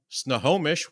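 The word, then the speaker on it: Snohomish: But coming to us all the way from Snomish, Washington, we have the founder of Kula Cloth, Anastasia.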